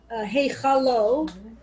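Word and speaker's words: היכלו: So in Heichalo, there's no Dagesh in the Kaf. So it's pronounced with the hard guttural Ch instead of the Dagesh in the Cha, which would be then Heikalo.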